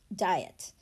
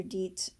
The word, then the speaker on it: diet: Diet. IE definitely is a vowel pair that we know, but in this word, the word isn't dite or deet.